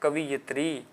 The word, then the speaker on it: कवयित्री: Question number 89, कवि का स्त्रीलिंग पूछा गया है, तो कवि का स्त्रीलिंग है तो कवयित्री होता है। कुछ बच्चे प्रोनाउंसिएशन करते हैं कवियत्री, लेकिन आंसर क्या होगा? कवयित्री।